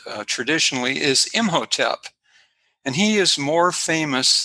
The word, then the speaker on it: Imhotep: spell it in hieroglyphics but how it's been pronounced uh traditionally is imhotep and he is more famous than the pharaoh